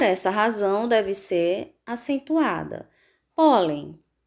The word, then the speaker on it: pólen: razão deve ser acentuada pólen o polén sílaba mais forte pó o último penúltima paroxítona